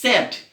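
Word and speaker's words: said: অনেকে আমরা সেইড বলি, আসলে এটা সেইড না, স্যাড।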